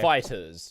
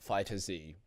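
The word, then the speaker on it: FighterZ: Yeah, and it's actually pronounced Fighters, not Fighter Z.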